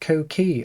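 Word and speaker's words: coquí: The Puerto Rican coqui, pronounced coqui, okay, coqui, is a small arboreal frog that's brown, yellow, or green in colour, right?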